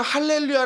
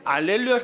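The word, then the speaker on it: alleluia: 하 해서 희영이 빠져요 왜 그러냐면 우리는 할렐루야 라고 하는데 라틴어 찬송 에서는 뭐라고 하죠 알렐루야 떠오르죠 왜냐하면 라틴어의 는 희 용 발음이 없어요 그래가지고 시험 발음을 해 줄 수가 없어요 그래서 우리는 할렐루야 라고 하는데 라킨 어 그 그래 벌이 차트 라던지 그 성당에서 부르는 노래들을 보면은 알렐루야 라고 얘기 하잖아요 그래서 하루 무기 또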